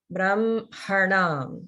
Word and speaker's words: Brahmanam: So again, this word, like Brahmanam, it's spelled with an HM, but by the rules of pronunciation, we pronounce it like it's MH.